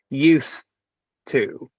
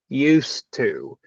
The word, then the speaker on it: used to: about this expression right used to that's what we're talking about here this morning so again the pronunciation if you notice we don't use a z sound we use an S sound that's number one right